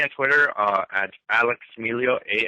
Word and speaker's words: Miglio: Twitter uh at Alex Milo a l e x m i g l i o the g is silent uh so uh uh